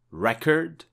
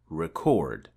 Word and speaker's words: record: Record or record? Well, both pronunciations in both cases are indeed correct. A present means a gift, and present is a verb that means to show or make something known.